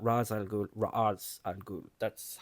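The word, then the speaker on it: Ra's al Ghul: Technically, it's Raz. Okay, I've looked this up myself and I watched an entire like hourong YouTube video about the pronunciation of it from Arabic and it's it's Razal Ghoul.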